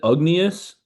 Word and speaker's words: Ugnius: Uh Ignie- Ugnius U G N I U S, Ugnius, I think is how it's pronounced. Jarosevicius, Jarosevicius, he's from Lithuania. way it's pronounced Ugnius.